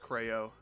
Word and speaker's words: Creo: The Creo is how you say it. I don't care what you nerds say. It's pronounced Creo.